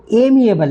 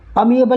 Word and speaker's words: amiable: at amiable, क्या amiable, इसका जो एग्जैक्ट प्रोनाउंसिएशन वो एमिएबल है, क्या एमिएबल, दोबारा मैं गलत बोल गया था, सॉरी, अमिएबल नहीं है, एमिएबल।